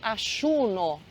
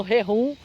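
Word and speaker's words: ayuno: Argentina a gente fala auno intermitente não é reum tá uma vez eu ouvi brasileiro falando reum e não é assim tá então é auno Então essa é é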